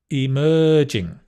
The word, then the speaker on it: emerging: hard disruptive Technologies emerging emerging the stress on the mer emerging Technologies modern easy peasy